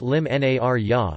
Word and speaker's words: l-Imnarja: Narja, or El Imnarja, pronounced Lim Narja, is one of the most important dates on the Maltese cultural calendar.